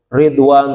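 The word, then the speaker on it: رضوان: artinya mencintai gitu dan kata Ridwan dikasih dibaca dengan kasrah ra jadi bacanya dan juga bacanya gamaru jadi Ridwan suku Kais dan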